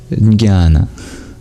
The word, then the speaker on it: jnana: And the Greeks got that from the ancient Indians, from the word jnana. Or as they pronounce it with a J in front, jnana.